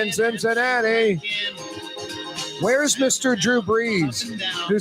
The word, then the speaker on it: Brees: I think it's pronounced Brees. Yeah, you right.